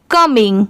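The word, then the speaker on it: coming: इसे कॉम नहीं पढ़ेंगे। इसकी साउंड क्या आ रही है? कम और जैसे मैंने अभी बताया था कि आई एन जी की साउंड कभी चेंज नहीं होती। इसे इंग ही प्रोनाउंस किया जाता है। तो यह कम यह इंग कमिंग।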